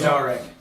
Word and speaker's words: Derek: over at you, and Derek is like, and so you guys Pronounced Darek. It's Darek, yeah. It's like your father, Kavan, but everyone calls him Kevin all the time.